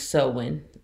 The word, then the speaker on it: Samhain: and find out that on Halloween, which is Samhain, that's how it's pronounced in the book.